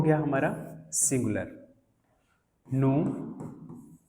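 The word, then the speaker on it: nous: नु, वो, इल और एल। इसकी प्रोनाउंसिएशन वाली क्लास में, लास्ट क्लास में बताया था आप लोगों को कि हम इसको नूज क्यों नहीं पढ़ते। तो पता था कि वॉवल के बाद जो भी आता है उसको हम रिमूव कर देते हैं लास्ट के 3 में।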